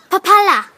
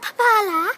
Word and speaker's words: Papala: It's pronounced Papala, not Papala, Papala.